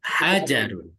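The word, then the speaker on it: حَجَرٌ: Hadza hajarun. Ya. Pendek aja bacanya.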